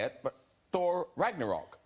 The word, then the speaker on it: Ragnarok: tell us about the latest Thor movie, Thor Ragnarok. Ragnarok. Yeah. I lost confidence then. I know. I thought I knew how to say it, but Thor Ragnarok. Ragnarok.